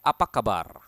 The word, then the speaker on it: apa kabar: course in Bahasa Indonesia you need to roll your Tong like in Spanish Oke so Apa kabar